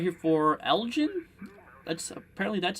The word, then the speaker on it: Elgin: at it um looks like right here for Elgin that's apparently that's how you say it now